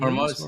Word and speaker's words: Hormuz: Is that how you pronounce it? Hormuz? Hormuz, yeah, yeah.